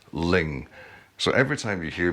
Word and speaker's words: Luing: i discovered later that the pronunciation of the island is actually ling so every time you hear me say louis please hear in your head the correct pronunciation ling well here it is